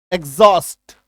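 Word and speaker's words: exhaust: ए आधा ग और ज ये उच्चारण होगा।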